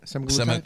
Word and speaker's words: Semaglutide: No, but Semaglutide or is that how you say it? Semaglutide.